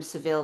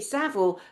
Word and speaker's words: Savile: Someone call him Seville. No, we pronounced it Savile.